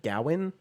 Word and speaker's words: Gawain: People say it Gawain because that's how it looks. That's like how it's spelled. And then it's like I've also heard Gowan, like Gow instead.